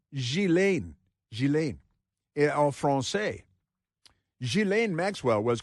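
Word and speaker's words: Ghislaine: Epstein's accomplice, Gilain Maxwell. It's spelled Gizlane, but it's pronounced Gilain.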